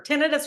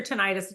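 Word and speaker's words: tinnitus: out right you'll get or tenus or tenius depends on how you want to pronounce it it is it is annoying both and I'm told both are correct um i' had it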